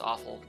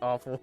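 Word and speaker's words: offal: is awful just pronounced awful it is pronounced awful yeah but what is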